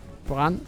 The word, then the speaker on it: brand: Brand in Danish, it Brand pronounced, you know, Brand.